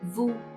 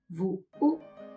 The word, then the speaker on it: Vũ: So together it is Vu. Now adding the high rising broken tone is Vu. You rise, stop. You go up, stop, and go up higher. Vu.